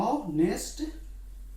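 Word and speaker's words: honest: इज अ कि एन, हाँ एन होगा, ऑनेस्ट बॉय, यहाँ पे एन लगा, जबकि यहाँ पे क्या है, कॉन्सोनेंट है, फिर भी इस उच्चारण में इसका भवेल होता है, इसी वजह से हम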